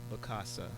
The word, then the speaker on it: Bakasa: Bakasa.